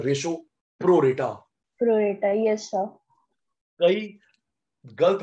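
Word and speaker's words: pro rata: निकालना पड़ता है रेशो, प्रो रेटा। प्रोरेटा। यस सर। कई गलत बोलते हैं, प्रो राटा प्रो राटा प्रो राटा, प्रो राटा नहीं होता, प्रो रेटा।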